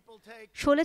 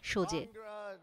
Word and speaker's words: শোলে: শোলে ছবির নাম নিতে গিয়ে মার্কিন প্রেসিডেন্ট বলেন সোজে।